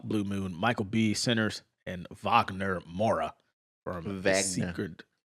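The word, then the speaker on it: Wagner: another, Ethan Hawk, Blue Moon, Michael Benters, and Vagner Mora from Secret. What? It's Vagner.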